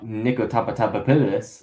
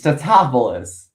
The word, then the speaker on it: Tatopoulos: Niko top nicotapus. You know it's Tatopoulos which okay funny. Like I understand it's an in joke because it's like they couldn't pronounce the last name of Patrick Tatopoulos and it's just like okay but it's not